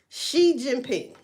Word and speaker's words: Xi Jinping: It's Xi Jinping. It's pronounced Xi Jinping.